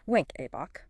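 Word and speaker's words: Wenckebach: Second degree AV block type I also commonly known as Mobitz I or Winkabok pronounced wink Abbach.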